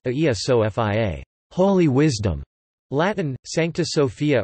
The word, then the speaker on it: Αγία Σοφία: Hagia Sophia, from the Greek Agia Sophia, pronounced Aia Sophia, holy wisdom.